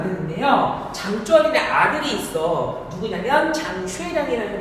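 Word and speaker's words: 張學良: 누구냐면 장쉐량이라는 사람입니다. 한자 발음은 장합량인데 아십니까?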